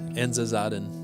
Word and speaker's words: Enza Zaden: Enza Zaden.